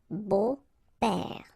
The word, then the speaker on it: beaux-pères: Okay, but then it's exactly the same thing, because you don't pronounce it. Des beaux-pères. Okay, remember the S, but then it's silent.